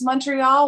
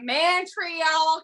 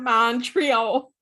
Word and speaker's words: Montreal: default claude julian claudiaro i truly love the way americans pronounce montreal when they're like oh the mantrial canadian the girl what happened in this sentence it's so true where they got mantry i don't know but it's